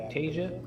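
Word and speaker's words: Aiptasia: Yeah, Aptasia.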